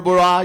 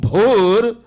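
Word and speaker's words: भूः: You just can't say, hey, om, bur, bura. You can't say like that. Most people curse. They can't pronounce bha and ba. Instead of saying om bhur, they say om bur.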